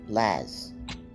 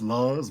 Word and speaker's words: Laz: a tough crowd huh am i to presume that you are laz well uh i mean technically it's pronounced laws but yeah yeah no that's